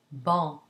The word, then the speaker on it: bon: First, you have bon, where you have an N followed by a silent C, and the N nasalizes the A in front, but it is not pronounced. Bon, on.